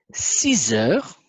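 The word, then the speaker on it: six heures: Ici, 6 heures. Vous aurez remarqué que je prononce Z.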